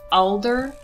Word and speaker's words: Alder: a single time properly it's it's alder a-l-d-e-r not a-d-l-e-r hello editing noel here